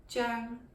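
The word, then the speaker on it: 張: In English, we most often pronounce this as Cheung or Cheung. I would say Cheung, Cheung. In Cantonese, it's pronounced the high falling Cheung, Cheung.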